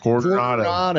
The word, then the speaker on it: Coronado: Roll your R like Coronado. Coronado.